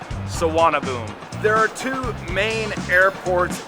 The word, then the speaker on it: Suvarnabhumi: defines this country and don't worry the pronunciation well it's much simpler than it looks Saab boom there are two main airports in Bangkok saana boom and the older don